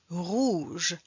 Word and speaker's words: rouge: de rouge rouge ou boulevard boulevard dessous dessous soupe soupe jour jour nous Nous vous vous rouge on ne prononce pas le e pronounce de e rouge